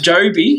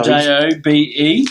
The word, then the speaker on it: Jobe: What about Joby? I better say his name correctly. Job. Joby Watson? Joby Watson. Job. Joby Watson. No, Jobe.